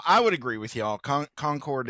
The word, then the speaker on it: Concord: Concord is a is a trap. Um you know, as you said, there's many many names or many many cities like that across the across the country name Concord or Conquered.